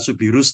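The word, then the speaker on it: Soubirous: Memang bacanya tulisan Subirus tapi baca Subiru ya.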